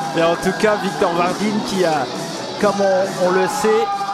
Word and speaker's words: Wardin: Wardin. Je dirais même Vardin, je crois. je dis pas de bêtises. Je crois que le W se dit V. Victor, donc Victor. Et en tout cas, Victor Vardine qui, comme on le